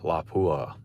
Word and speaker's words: Lapua: Yeah, Lapua. That's correct pronunciation.